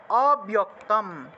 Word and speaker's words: অব্যক্তম: এ চাপ্যক্ষরম অব্যক্তম, অব্যক্তম। এখানে দেখুন বিয়ক্ত কেন লিখলাম, কারণ বয়ের সাথে জফলা আছে, বয়ের সাথে জফলা থাকায় বিয় উচ্চারণটা হলো, তাহলে বিয়ক্তম তেষামকে, তেষামকে, তেষামকে, যোগ আছে উচ্চারণ হবে যোগ, যোগ বিক্তমাহা, বিক্তমাহা।